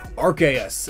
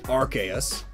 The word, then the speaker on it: Arceus: Arceus is pronounced that way, Arceus, but it's also pronounced Arceus. Both from official sources.